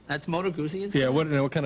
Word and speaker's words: Moto Guzzi: Beemer that's cute a moto Guzzi did I pronounce that correctly that's moto Guzzi yeah wouldn't know what kind of a bike